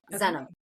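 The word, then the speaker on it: Zzzenim: yeah threez and then spelled like denim so zenim I love no I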